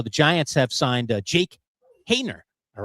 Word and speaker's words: Haener: So the Giants have signed Jake Haener. All right. Hayner is how you pronounce it.